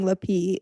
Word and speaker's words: Lapee: lappy yeah la pee la pee oh sorry i didn't pronounce it right yeah the p like the p the accent is on the p yeah kinda like zulu zulu right yeah they're awesome i